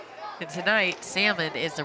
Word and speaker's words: Salmon: By the way, Salmon does spell her name like salmon, S-A-L-M-O-N.